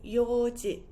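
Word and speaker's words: 四時: Instead of saying yon, we would say yoji, yoji. So that would be 4 o'clock.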